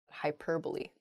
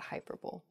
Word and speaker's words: hyperbole: think some of those things happen to her hyperbole not hyperb next Antarctic not ah oh I see Antarctic is the correct pronunciation of this word some people say an